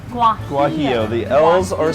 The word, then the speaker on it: Guajillo: How do you pronounce it? Guajillo. Guajillo.